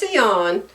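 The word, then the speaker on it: Sian: not an American spelling her name is seon and her YouTube channel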